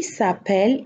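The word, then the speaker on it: s'appellent: Mom and dad, ma mère, dad, mon père, who is called, qui s'appelle, who are called, qui s'appelle, ENT is silent. Notice, ENT here is silent.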